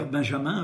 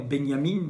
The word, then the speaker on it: Benjamin: monsieur n'était autre que valter benjamin ou 21 benyamine selon que l'on prononce à l'allemande ou à la française son nom qui le